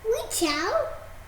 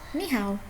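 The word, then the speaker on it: 你好: Ni chao. Close. Ni chao. Not ni chao. What is it? Ni chao. Ni hao. Ni hao.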